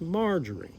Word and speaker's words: Marjorie: Yeah, even Marjorie Taylor Greene, who I called Margaret Taylor Greene yesterday, a lot of people were like, "She said it's not Margaret, it's Marjorie."